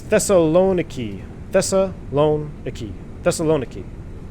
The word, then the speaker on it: Thessaloniki: VESA lone a key thessaloniki emphasis on the knee that's the thessaloniki that's a long iki honestly that's the hardest